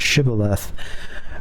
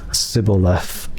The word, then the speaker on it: shibboleth: So the Gileadites pronounced it shibboleth, and the Ephraimites pronounced it sibboleth. Okay, they didn't have the sh sound, so that's why I would fail.